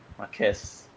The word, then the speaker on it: Marquez: Marquis or Marquez? Marquez.